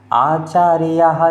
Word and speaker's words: आचार्यः: इंद्रमहिता सिद्धाश्च सिद्धीश्वरः आचार्य नहीं, आचार्यः, ऐसे आचार्यः जिन शासनोन्नतिकरः पूज्यः उपाध्यायकः।